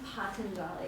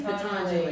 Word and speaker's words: Patanjali: I've never known how to pronounce his name. Patanjali. Patanjali. Okay. Thank you. I didn't. Yeah. Jimmy says it's Patanjali. It's Patanjali. Patanjali.